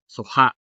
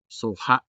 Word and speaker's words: suha: Notice the hard vowel ending, which is also a part of the stressed syllable, suha.